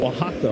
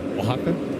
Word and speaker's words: Oaxaca: Oaxaca? Yeah. I just like saying Oaxaca. Yeah, because if you don't know how to say it, you can't say it from looking at the spelling. Oaxaca?